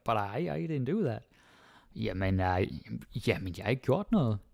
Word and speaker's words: jamen: Okay, go down to jamen. Jamen is interesting. Some people, they might say it as amen. I think I do that sometimes. It happens. Jamen.